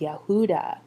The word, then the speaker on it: Yahudah: So even when we look today at the word Judah, or in Hebrew, it would be pronounced Yahudah, the same four letters in the Creator's name show up in that word.